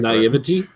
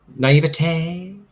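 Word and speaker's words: naïveté: that that naivete naivete i think i pronounced that naivety naivete i'm going to be classy with it um i think they're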